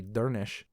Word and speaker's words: Durnisc: We have a name of another person, DURNISC, and that SC at the end turns into an SH sound, so this is actually Dernish.